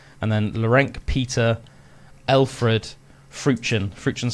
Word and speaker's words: Freuchen: As I said, his name is Laurent, so that's spelled Lorenc, and then Laurent Peter Alfred Fruchen.